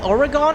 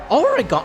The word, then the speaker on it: Oregon: Oregon. Oh, Oregon's yo. pronounced like origin with a hard G.